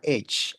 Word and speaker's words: age: yang variabelnya itu adalah age. Age itu artinya usia atau umur ya, Teman-teman ya. Oke, Age bacanya dalam bahasa Inggris ag.